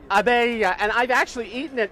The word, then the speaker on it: Abeille: Is that the right pronunciation? Yeah, Abeille. Abeille.